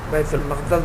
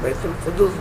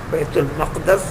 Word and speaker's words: بیت المقدس: بیت المقدس بولیے، بیت المقدس بولیے، بیت القدس بولیے، یہ 3 طریقے کا تلفظ صحیح ہے. بیت المقدس، بیت المقدس، بیت المقدس، بیت القدس.